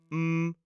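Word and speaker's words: -mouth: The next suffix looks like mouth, the thing on your face. But the pronunciation of m o u t h as a suffix at the end of most place names is m. So, it's m. Again, it contains a schwah.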